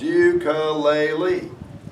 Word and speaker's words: ukulele: Ukulele has 4 syllables. Ukulele. It has 4 vowels, a vowel per syllable. And the E's all say something different.